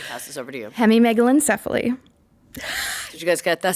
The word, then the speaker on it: hemimegalencephaly: Hemimegalencephaly.